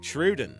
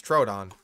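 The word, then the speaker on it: Troodon: Truden. This one is kind of a tiny terror. Truden. Uh, do we got butcher pronunciation? There it is. Truden. It's Trrodon.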